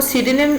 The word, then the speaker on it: pseudonym: इसको सीडेनिम प्रोनाउंस करते हैं और इसकी स्पेलिंग है PSEUDONYM, ठीक है।